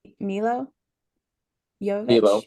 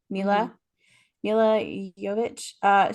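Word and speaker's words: Milla Jovovich: I'm gonna say her name wrong. I think it's Milo Jovovich. Mila. Yeah. Mila Jovovich.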